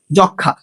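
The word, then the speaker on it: যক্ষ্মা: ঠিক আছে, 5 নম্বর নিয়মটা দেখো, যুক্ত ব্যঞ্জনের সঙ্গে মফলা যুক্ত হলে মফলার উচ্চারণ হয় না। যেমন যক্ষা।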